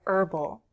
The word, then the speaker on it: herbal: Notice I choose AN because I don't pronounce the "h" in "herbal."